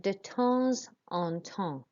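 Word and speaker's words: de temps en temps: done if you said de tous on tongue pronouncing this s because it's in front of a vowel and then not pronouncing this one because it's got nothing after it equal to a repeated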